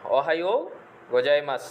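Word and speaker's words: おはようございます: প্রথমে আছে কি শুভ সকাল, অহাইও গোজাইমাস। তাহলে জাপানি ভাষায় যেখানে শব্দ শেষে মাসু দেখবেন সেটার উচ্চারণ হবে মাস, আর দেশু থাকলে উচ্চারণ হবে দেশ। তাহলে এখানে শব্দ শেষে আছে মাসু, তাহলে অহাইও গোজাইমাস, অহাইও গোজাইমাস, শুভ সকাল।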